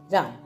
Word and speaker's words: Rama: दशरथ दे ठीक है इंग्लिश हमेशा आखिर ए लगा है सु प्रोनाउंस भी करना पदा है ठीक है रामा सन ऑफ दशरथा ठीक है आप ये